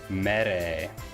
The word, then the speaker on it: Mere: We are going to be raiding Mere. That is the correct pronunciation of her stream.